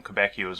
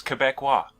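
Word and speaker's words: Québécois: Because it's French, it's not whatever I was calling them, Quebecios or whatever. It's Quebecois, I believe. So I was informed of that last week. But nevertheless, the Quebecois will be dead in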